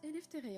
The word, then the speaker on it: Eleftheria: Ça se prononce Eleftheria.